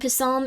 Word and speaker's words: Psalm: Um the P in Psalm is silent.